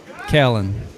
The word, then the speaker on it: Kellen: name and I apologize I think it's Kell Kellen like y not ill I think I think